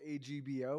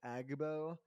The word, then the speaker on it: AGBO: I don't know if they pronounce it in the acronym form AGBO or if they actually say AGBO. I've heard it both ways.